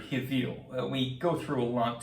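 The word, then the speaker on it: הבל: out because in Hebrew, the name Abel is actually rendered Hivil.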